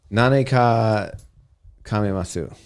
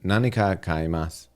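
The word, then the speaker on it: 何か買います: No, Nanika Kaimas. I don't have to do the Sue at the end.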